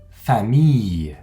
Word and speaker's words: famille: d'un mois en français on prononce à un peu comme si c'était une y y comme dans le mot famille encore on ne prononce